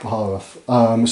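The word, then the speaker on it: Baharroth: Swooping Hawks I'm going to paint up for you as well, because we've got, how do you pronounce it? Baharoth? Yeah. Baharoth.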